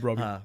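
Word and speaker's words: Brobbey: Robbie Yeah, Brobby I'm pronouncing it right. Yeah, Brobby.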